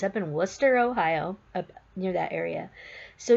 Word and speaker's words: Wooster: of Columbus up in Wooster Ohio it's not pronounced Wooster's it's W oo s ter all the people up there call it Worcester so it's up in Wooster Ohio up near that area so we went up